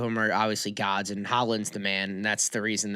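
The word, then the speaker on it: Haaland: And then how do you pronounce Erling's last name? Holland.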